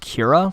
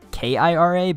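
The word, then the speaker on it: Qi'ra: a few places that this is just pronounced Kira, like Kira, but like with a Q, so, you know, weird Star Wars spellings.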